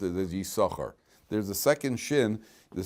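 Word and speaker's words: יששכר: their two shins so there's a silent Shin over here why why is there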